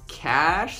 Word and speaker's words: Cache: arsenal of weapons but it's pronounced like cash C we're gonna go